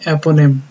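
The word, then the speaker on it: eponym: एपोनिम pronounce करते हैं एपोनिम।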